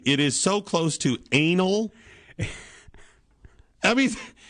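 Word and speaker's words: Anole: 2003 his name is Anal spell it for him a n o l e I guess it could be anoli but darn it that's close enough to anal and you're gonna make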